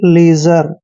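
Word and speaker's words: leisure: खराब next word देखिए एल ई आई एस यू आर ई देखिए एल का उच्चारण ल करते हैं और ई आई का उच्चारण ई की मात्रा करते हैं एस का उच्चारण यहां पर ज करेंगे जब भी एस से पहले आई आता है तो एस का उच्चारण ज करते हैं और यू आर ई का उच्चारण आर करेंगे यानी कि लीजर लीजर मींस होता है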